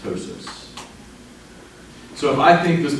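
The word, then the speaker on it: ptosis: this something called tosis not surprisingly spelled with a p but pronounced tosis so if I think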